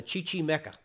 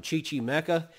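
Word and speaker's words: Chichimeca: indian tribe uh this tribe is called the chichi mecca chichi mecca c-h-i-c-h-i-m-e-c-a i believe let me spell that the chi chi mecca that indian tribe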